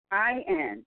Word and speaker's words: Samhain: SAMHAIN, and it's pronounced Samhain.